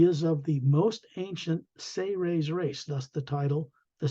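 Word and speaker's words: Seres: of the most ancient say raise race thus the title The say Ray's agenda s-e-r-e-s but it's pronounced as if it was spelled s-a-y hyphen r-a-y-s say raise they were responsible for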